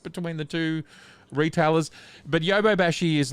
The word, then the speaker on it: Yodobashi: say, from the Yodobashi, is that how do you say it correctly? Yeah, Yodobashi, yep. Yodobashi, I mean, obviously a little bit more current than the map camera one. Yodo. I'm leading you astray. It's Yodobashi.